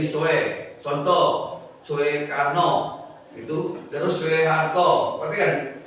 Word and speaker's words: Soeharto: Contoh, Soekarno itu terus Soeharto. Perhatikan ejaan, ya. Yang ada o, u, dia jadi e, o dengan e. Bacanya su, ya. Ngerti nak? Jadi kalau ketemu, kenapa Pak? Seperti Pak Soeharto, Pak Soekarno itu dibaca dengan Soekarno, padahal Soeharto